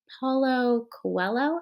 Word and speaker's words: Paulo Coelho: um i just finished reading the alchemist by paulo coelho i think is how you say his name